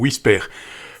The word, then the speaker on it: WSPR: qu'est-ce que c'est que WPR qui se prononce au Wisper.